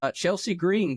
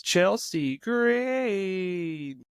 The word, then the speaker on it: Chelsea Green: Chelsea Green, current WWE Women's USA Women's Champion, will drive the pace car on the initial start. You said it. You said it wrong. It's Chelsea Green.